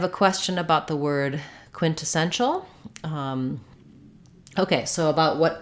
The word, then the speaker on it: quintessential: Right now I'm saying it with a true released T, quintessential. Quintessential. Oftentimes when we have an NT in words, we will use, drop the T, like in the word internet. We often just say that as internet. In quintessential, you could say it that way, quintessential. I don't typically hear that, quintessential. So more often, I think we hear a true aspirated T here, quintessential.